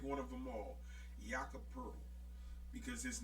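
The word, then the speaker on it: Poeltl: and his name is spelled Poetl, and it's pronounced Pearl.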